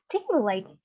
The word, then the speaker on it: stimulate: Now next one we have, look, the brain is stimulated. The brain is stimulated. So what does stimulated mean? All right, stimulate is a verb, so it means khuyến khích và it stress on the first syllable.